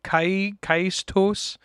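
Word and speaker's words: Caetus: And even after you complete this battle, Invasion of Segovia turns into Kaistos, I think is the pronunciation. Yes. Kaistos, if we're going by...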